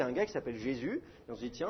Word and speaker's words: Jésus: Dans la plupart des langues, un U, ça se prononce OU. Donc ça, il faudrait prononcer Yesous. Mais évidemment, la prononciation française, ça devient un J, et le U, il est prononcé U et pas OU. Donc ça fait Jésus, et puis d'ailleurs, on ne prononce même plus le S final, on dit Jésus.